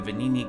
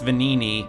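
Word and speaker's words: Venigni: be made using the venini craft machine and I know that it's vanini because they eventually pronounce it in this game it just took a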